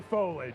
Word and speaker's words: foliage: Is it foliage or foliage? It's foliage. Foliage. It's 3 syllables.